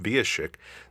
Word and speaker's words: Wiesiek: fell in love with, Wiesiek, the keyboard player of the tour. Now, I've had 3 seasons to pronounce his name. Have I finally gotten it right? Yes, you're good.